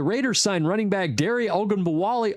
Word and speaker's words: Ogunbowale: The Raiders signed running back Dare Ogunbowale Agbunbowale, there we go. It's such a hard name to pronounce.